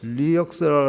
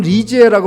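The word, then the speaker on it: Lisieux: 근데 테레사 오브 리역스라 해가지고 프랑스 발음은 리지에라고 발음하는 것 같아요.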